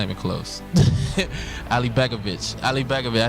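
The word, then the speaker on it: Alibegović: Ali Begovic. I said it right? Yeah, Ali Begovic.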